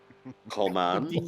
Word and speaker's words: Coleman: to straighten it out it's not called him it's Coleman no no no no